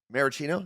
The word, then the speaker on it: maraschino: but not too many maracino that's how you pronounce it maraschino cherries minimize them I